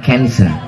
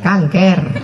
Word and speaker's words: cancer: Tulisannya C-A-N-C-E-R. Orang barat membacanya cancer. Cancer. Payah orang kita bilang cancer, kanker.